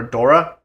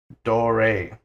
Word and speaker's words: Dore: And this one right here, says throughout the movie people call her Dora, though the character's and real person's name is Dore. This is a common mispronunciation of German names ending with E for English speakers.